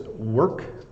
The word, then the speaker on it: work: this one just said they have trouble with the the r and the K together work um so I